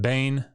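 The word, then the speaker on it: בן: Notice that the word Bain for son, when you connect it to another word, this vowel shortens because the accent has shifted, right? So now it's a CVC, consonant, vowel, consonant, syllable, and because it doesn't have the accent and it's closed, it has to be it has to have a short vowel. So ben goes to ben.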